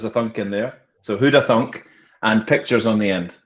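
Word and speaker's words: Hoodathunk: n k there's a thunk in there so huda thunk and pictures on the end so all one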